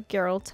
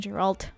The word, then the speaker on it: Geralt: I don't know why insist on it being Gerald I also don't know why I don't know how dare you English is a difficult language you know soft G always feels very bad to me year old that's a hard G Gerald Geraldine Godfather it